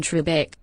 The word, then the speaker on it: Trebek: right wonderful uncle mark you're saying it all wrong it's alex freakin trebek alex freakin trebek thank